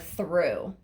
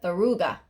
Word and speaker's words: through: for example, the word through. Through. Me- yeah, Mexicans would pronounce that Thoruga because they read it as it's written, Thoruga, like reading it phonetically. Then you find out it's through, and then we have Threw just to confuse you.